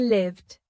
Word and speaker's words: live: Five with a long I sound means having.